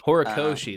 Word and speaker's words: Horikoshi: and it was written by how do you pronounce his name? Um, Kohi I know his last name is Kohi like Koi Horikoshi. Horikoshi, that's it.